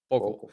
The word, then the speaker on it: Bokel: How do you pronounce his last name? Sam, do you? Bokel? I had to. It's Bonsart Bokel.